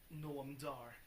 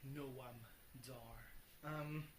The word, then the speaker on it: Noam Dar: that accompany Noam Dar, Noam Dar. It's really complicated name to say if you don't force yourself to pronounce the A, because the A has to be pronounced or it just sounds like gnome, and he's not really a gnome.